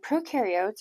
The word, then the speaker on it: prokaryotes: So prokaryotes or prokaryotic cells have no nucleus. And you can remember that by remembering that pro rhymes with no.